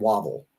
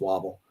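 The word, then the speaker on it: Wavell: the command of uh general sir archibald wobble i think that's how his name is pronounced wobble uh and he had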